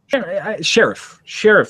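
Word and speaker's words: Scherff: He took Sheriff. That's how you say his name.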